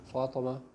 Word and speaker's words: Fatima: sometimes uh for me fatima in arabic is pronounced in english is one of that fatima fatima or fatima fatima okay so it's like fat and emma fat and emma i'm